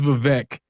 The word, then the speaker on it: Vivek: and proceed to wrap my name's Vivek it rhymes with cake good God what uh